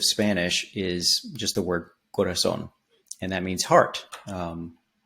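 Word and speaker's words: corazón: with a th sound Corazon um the other thing is that the accent is on the O Okay so proper Spanish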